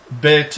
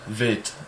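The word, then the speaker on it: בית: Bet is a B sound when it has a dot in it, and it's a V sound, vet, when it is undotted.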